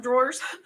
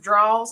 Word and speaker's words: drawer: have known that okay it's not spelled the way I pronounce it you know it's drawer and so yeah they're like yeah I have a chest of draws I was like so